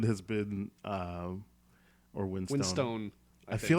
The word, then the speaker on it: Winstone: yes Ray Winston has been um or winst Winstone I feel like it's still pronounced Winstone you were very confident with that let's go